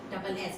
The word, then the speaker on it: gneiss: Now, gneiss means the spelling is Gneiss. It is pronounced as gneiss.